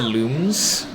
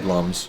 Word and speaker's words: Lums: I mean, I'm pretty sure, because I always said lums too, and then I could have sworn I read somewhere it's actually supposed to be pronounced looms. Loom because they're luminescent.